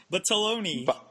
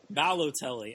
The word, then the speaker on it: Balotelli: Bataloni. The first one was much closer. How do you say it? Balotelli.